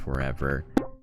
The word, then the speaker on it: ForeVR: at forever darts uh it's spelled for vr but it's pronounced forever and they made the